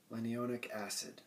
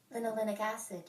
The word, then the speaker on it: linolenic acid: Now, alpha linolenic acid. Okay, now this is how it's... Linolenic acid. Linolenic acid. That's how it's pronounced.